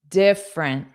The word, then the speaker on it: different: intra interested interested interested different so this e in the middle is not pronounced And then this e at the end is pronounced as an unstressed schwah in different because again we have